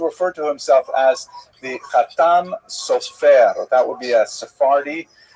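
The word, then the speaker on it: חתם סופר: Obviously, some of the consonants are slightly different and the emphasis tends to be on the last syllable, but the Ashkanazi pronunciation tends to be on the first syllable.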